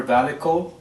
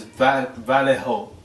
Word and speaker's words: Vallejo: uh the person i had contacted uh i mispronounced the name i was calling him i was calling her validco but it's valejo v a l her name is pat vallejo customer relations specialist that's what she puts as